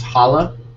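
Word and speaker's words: Holo: bit of a change it's pronounced holla holla holla but I just I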